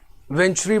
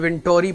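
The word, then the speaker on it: Venturi: वेंचुरी बोलते हो, वेंटोरी पढ़ते हो, जो भी आप पे डिपेंड करते हैं।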